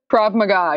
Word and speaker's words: Krav Maga: I'm not sure exactly how to pronounce that particular martial arts. What is it? Krav Maga? Krav Maga, yeah.